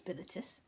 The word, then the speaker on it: Bilitis: I think it's Bilitis.